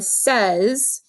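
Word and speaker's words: seize: cans drinking drinking a pop can and then says is spelled like this s ee i ee and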